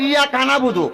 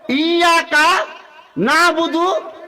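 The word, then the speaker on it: إِيَّاكَ نَعْبُدُ: তাহলে কানা, ইয়া কানা, ওয়াইয়া কানাস, আমরা এইভাবে পড়ি, কিন্তু বলতে হবে ইয়াকা নাবুদু ওয়াইয়াকা নাস্তাইন ইহদিনাস সিরাতাল কই, তাল কই আমরা তাল নাই, এটা হলো তোয়া।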